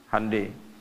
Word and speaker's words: Hyundai: Jepang bikin Honda ya Korea bikin hundai Hyundai bacanya hundai kemudian sana masuk Piala